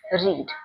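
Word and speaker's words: read: पढ़ना रीड उसकी third form भी spelling is रीड बट is called रेड।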